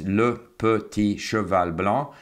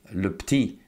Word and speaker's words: Le Petit Cheval Blanc: And it's called Le Petit Cheval Blanc, so it's Le Petit Cheval Blanc, but can also be Le Petit. So the sometimes disappears. Is sometimes pronounced at the end of the word, sometimes not pronounced.